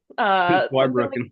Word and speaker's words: Zweibrücken: Iowa, and I should have asked how to pronounce the name of the city over in Germany. Zweibrücken? Zweibrücken.